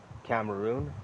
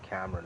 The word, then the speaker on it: Cameroon: Cameroon. Let's say you pronounce it Cameron in English, but that place Cameroon.